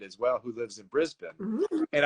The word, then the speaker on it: Brisbane: well who lives in Brisbane and I said it right too it's not Brisbane it's Brisbane uh so Sienna tell